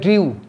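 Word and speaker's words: drew: আছে মধ্যেটা হচ্ছে ড্রিউ ডি আর ই ডব্লিউ উচ্চারণটা হবে ড্রিউ লাস্টটা হবে ড্রন ডি আর এ ডব্লিউ এন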